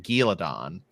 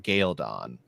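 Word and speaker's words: Ghealdan: a war down in in the book it's sort of pronounced more like galadon uh but now in the show they're calling it galon MH yeah so uh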